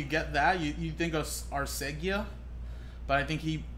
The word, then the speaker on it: Arcega: You think of Arcega, but I think he recorrected a lot of people saying that it's pronounced Arcega. So I seen a funny post the other day. It was like, when you see this, you don't think of th at the end of GA. So the way he says pronounce it, it's kind of like how Mike Tyson would have said it.